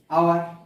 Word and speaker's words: hour: আগে অ্যান বসবে, যেমন আওয়ার, HOUR, এইচটা ভাওয়েল নয়, কনসোনেন্ট, কিন্তু এইচ এর উচ্চারণটা কেন হচ্ছে না? আমরা যখন আওয়ারটা উচ্চারণ করছি তখন হাওয়ার উচ্চারণটা কিন্তু করছি না, কি উচ্চারণ করছি, আওয়ার,